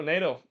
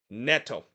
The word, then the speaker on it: Pedro Neto: It's Pedro Nato. He scored from Jackson to make it one- nothing in favor of Chelsea. And did I say NATO? Netto.